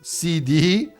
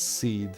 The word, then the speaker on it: SeeD: The seed is it pronounced CD like CD because it's PlayStation. No, it's seed garden seed.